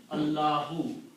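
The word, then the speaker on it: الله: And this word is pronounced as Allahu.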